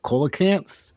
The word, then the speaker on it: coelacanth: Oh, I'm not going to pronounce this correctly, but it's like the coelacanth. Oh, this COE. Yeah. Is it coelacanth?